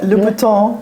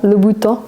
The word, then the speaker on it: Louboutin: Louboutin. Louboutin.